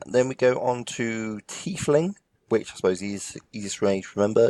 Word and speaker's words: tiefling: we go on to tiefling which Posey's is range remember is it's like a thief but with less h's or titling or not